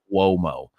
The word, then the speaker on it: Cuomo: Cuomo. Put an invisible W in there. Cuomo.